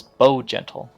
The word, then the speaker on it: Bow Gentle: a mage known as Bow Gentle. It's literally as it's spelled, Bow as in BOW and then Gentle.